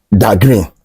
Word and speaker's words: Dagrin: But in hip hop, THE is pronounced as Da, you know, Da Brat and stuff like that. So he added Da to that green. So that was how Dagrin came about, that name.